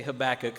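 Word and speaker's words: Habakkuk: and landed on, uh, the way I've been saying it seems to be the more common way, uh, at least here in America.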